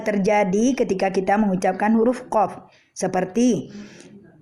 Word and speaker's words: qaf: ketika kita mengucapkan huruf qaf. Seperti mengucapkan huruf qaf seperti kaf ya. Jadi kalau dia baca qalu dibacanya kalu. Nah, ini merubah huruf qaf menjadi kaf.